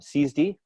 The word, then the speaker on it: SIËSDE: friend Darren Gingras from C's D I keep pronouncing it wrong how do I pronounce it CSP CSD right because and I just